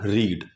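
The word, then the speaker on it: read: ध्यान रखिए, spelling same होती है, प्रोनाउंसिएशन अलग अलग होती है, ठीक है। इसकी प्रोनाउंसिएशन रेड होगी, ठीक है।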